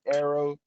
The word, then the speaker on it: Heiroah: So yeah, his name Arrow Yasir Ponder. Spell that His for us. first name Heiroah. So it's like air and pharaoh combined.